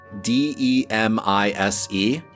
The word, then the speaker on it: Demise: And it is signed, spelled D-E-M-I-S-E. Demise. Demise, that was the pronunciation we know.